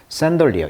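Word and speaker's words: chandelier: 크리스탈에 그런 샌리 우리 상들리에 들리라고 하는데 영어식 발음은 이제 샌어 샌리 여기 리에 강세가 있네요 산리어 이런 샌더 리어가 있고요 크리스탈 천개가 그다음에 골드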